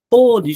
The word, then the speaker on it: pôde: Pôde, gente, pôde antes no passado. Pôde antes, no passado. E pode pode agora no presente, né?